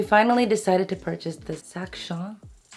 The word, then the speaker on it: Sac Chien: three and we finally decided to purchase this sakshan that's how you say it the dog carrier and this is in the size 50.